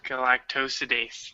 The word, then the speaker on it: galactosidase: into ssible because laxey makes helps create beta-galactosidase galactosidase that's how you say it and that's responsible